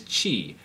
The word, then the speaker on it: qi: This is known as qi. QI, it's spelled.